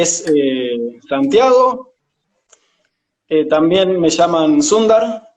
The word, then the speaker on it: Sundar: hay algunos, cuando ven Sundar, agarran y dicen Sandar, tipo Sandercat, es Sundar, ya se claro. pronuncia, la U se pronuncia como U en Se sánscrito. pronuncia como U. Sundar, Sundara, depende.